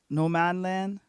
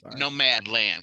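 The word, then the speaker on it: Nomadland: on the buzz around no manland no man land i'm mispronouncing it no no mad land cause she's a nomad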